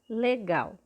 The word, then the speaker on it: legal: Quando nós falamos o L, nós percebemos que ele tem o som de U no final dessa palavra.